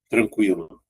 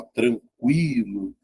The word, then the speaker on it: tranquilo: Olha essa aqui, tranquilo. Né? Se você pegar, ó, você não fala tranquilo, ó, tranquilo. Veja que a letra U ó, é pronunciada, tá vendo?